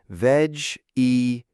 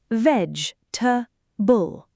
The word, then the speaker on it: vegetable: I usually say veg-e-ta-bull. Very slow. Yes, many learners do that, but native speakers say it differently. Veg-ta-bull. Veg-ta-bull. Perfect. Now listen carefully. It becomes shorter in real life. So I don't say every letter? Exactly. You drop some sounds naturally.